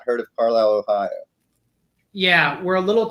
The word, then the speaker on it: Carlisle: Joining me is, you pronounce it Carlisle, right? That's right, Carlisle.